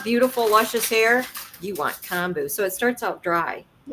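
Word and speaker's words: kombu: if you want beautiful luscious hair you want Koo so it starts out dry yeah yeah and I use it a lot I I make um I make comu Koo it's actually pronounced comu okay oh like con k buo stock is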